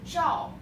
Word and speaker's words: 照: Okay, next one is 照片 First 照四声 fourth tone.